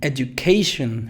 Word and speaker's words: education: Education, fíjate, education. Aquí está lo fuerte, K, y en shun, la sílaba débil de la schwa.